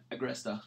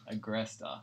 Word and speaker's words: Agresta: how do you say your last name I krysta aggressed ah there we go mr.